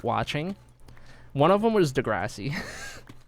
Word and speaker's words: Degrassi: Degrassi. Wait, how do you Wait, is there another way to pronounce it? with a low a degi like that. That sounds wrong.